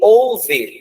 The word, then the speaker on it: ouve: Então, houve, tá desse jeito, tá? E ouve, de ouvir é desse jeito. Então, na pronúncia, os dois são iguais.